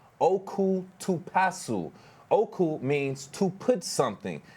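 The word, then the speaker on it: オクトパス: And from the library's Facebook post, it says, quote, octopus in Japanese is pronounced like oku to pasu.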